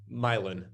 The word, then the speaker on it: Milan: what is going to be like the price difference of the French Quarter to, how did you pronounce it? Milan? Milan.